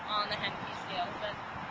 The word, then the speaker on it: Henneke: Some of these horses that have come in, they were a 1 on the Henneke scale. Is that correct pronunciation? Yes. Okay, good. So they were a 1 on the Henneke scale, and they're now undergoing the rehabilitation process.